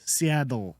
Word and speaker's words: Seattle: I say Seattle like with a D. Yeah. Not Not a T.